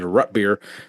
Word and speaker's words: root beer: I I I I apparently I've been saying it wrong this my my whole life it is it is rut beer so I'm going to